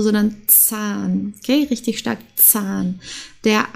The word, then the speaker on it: Zahn: S und Z also das deutsche Z wird sehr stark ausgesprochen also hier der Zahn okay sehr wichtig es muss stark ausgesprochen werden der Zahn also nicht sahn oder so sondern Zahn okay richtig stark Zahn